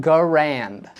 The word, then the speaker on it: Garand: Starting with its pronunciation. I have always said it and will continue to say it. M1 Garand.